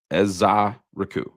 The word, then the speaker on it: Ezeiruaku: NFL Draft, and I'm going to use the pronunciation that I found right here on the internet. That is Donovan Ezeiruaku. Ezeiruaku.